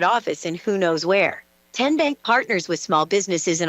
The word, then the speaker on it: TN Bank: How do you say the name TN Bank? Nope. Tin Bank? Uh-uh. So, what is it? Ten Bank. 10 as in Tennessee.